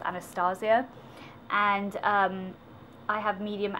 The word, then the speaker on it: Anastasia: I want to say Anastasia, but it's actually pronounced Anastasia.